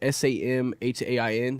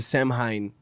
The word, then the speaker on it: Samhain: which is called, I think is how you pronounce it. It's Samhain. So it comes from Sam. What do you know about this, Sam? Absolutely That's nothing. fine. It comes from Samhain, and I think that's how you pronounce it.